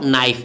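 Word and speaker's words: knife: नाइफ, क्या बोलते हो, के नाइफ लिखते हो और बोलते हो क्या हो, पढ़ते क्या हो, नाइफ। नाइफ मैंने चाकू छुरी होता है ना, लिखाता है के नाइफ लेकिन पढ़ाता है नाइफ।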